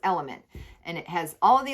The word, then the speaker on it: LMNT: love the brand lmnt it's pronounced element and it has all